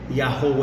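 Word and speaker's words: יהוה: tem que ser entendido o W tem que ter som de u e não de v então a pronúncia do tetragrama com a vocalização que surge por conta dos sinais massoréticos é yahou é pré exílio e erá pós exílio agora eu pergunto para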